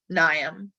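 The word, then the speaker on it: Mnium: pronounced like bill nye nyam i know silent m thanks botany silent m okay um so pelletricominium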